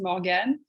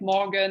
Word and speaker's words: Morgane: like i don't mind in french is morgan but if you want to say it like morgan i really understand morgan